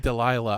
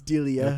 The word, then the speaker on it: Delia: I've always pronounced it Delilah. I don't know. It's Delia.